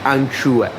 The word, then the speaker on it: acciughe: Mi permetto di correggere l'accento, si dice anciue al verde.